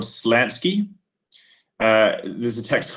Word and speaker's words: Slansky: nice but rather long text by someone called Slansky.